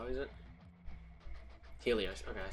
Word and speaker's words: Helios: or however you say it how is it Helios okay I said it right it's now deerga